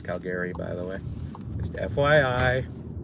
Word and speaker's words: Calgary: It's not Calgary, it's Calgary, by the way. Just FYI, it's the Irish pronunciation here in San Francisco. Calgary.